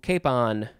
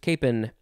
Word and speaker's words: capon: interesting okay moving on to cape on or just capen noun from before the